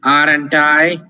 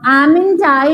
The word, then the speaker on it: aren't I: I am, aren't I? So that is Imperative. one second, okay? It's not amn't I, but it's aren't I.